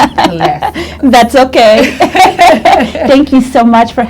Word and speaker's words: Palacios: Her name is Maria Palacios. And I said it wrong. Palacios.